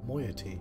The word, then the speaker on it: moiety: i've had some trouble with catherine and the moyety okay that's how you pronounce that in any society there will always